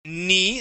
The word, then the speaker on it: knee: Okay, that is knee. That K knee. Is silent.